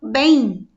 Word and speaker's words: bem: Porque quando nós pronunciamos, nós conseguimos ouvir o som desse I.